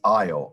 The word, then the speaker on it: isle: this was the hard one the word is io i s l e and when you put